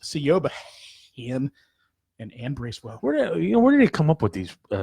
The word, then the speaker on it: Siobhan: Murphy, whose name is properly pronounced Sioba, and Ann Bracewell.